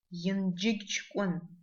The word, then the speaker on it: Янджигчкон: Джма, как в названии аула Янджигчкон. Дж, джма, Янджигчкон. На русском это аул Инжиччукун.